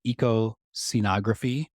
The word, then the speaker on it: ecoscenography: projects right first the and and correct my pronunciation here Eco scenography is that right that's correct yes EOS syy